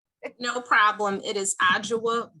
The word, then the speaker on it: Adjoa: i get it right no problem it is ajwa b okay gotcha thank you so